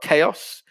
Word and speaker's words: chaos: the example we've got chaos chaos is pronounced with a silent h but what are the